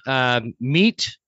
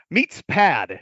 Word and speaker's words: MeatsPad: called MeatPad, or wait, I said it wrong. It's a funny one. MeatsPad. MeatsPad. MeatsPad.